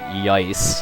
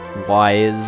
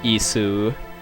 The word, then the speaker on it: Ys: Yeah, how you pronounce the name of that series is pretty debatable, but the one I've heard the most is Ys. As a kid, I called it Yice, because I had no clue how else to say it. Wise is another valid one, I would say, but I know in Japanese it's Isu.